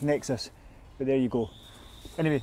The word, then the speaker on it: NXIS: It's probably pronounced Nexus, but there you go.